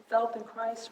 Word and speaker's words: Feldenkrais: Feldenkrais rhymes with Felden nice.